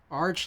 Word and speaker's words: Arch: Arch like chicken. Not arch like chasm.